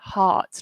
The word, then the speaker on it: heart: heart is spelt differently it's spelt with an e H E a RT but we we don't say that E we don't say he art we just say hearts like art I hope